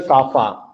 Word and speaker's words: kappa: The pronunciation is a kappa.